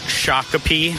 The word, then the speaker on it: Shakopee: beer and ax throwing Freedom pressed John it's pronounced Shakopee and wyzetta damn the UPS man great to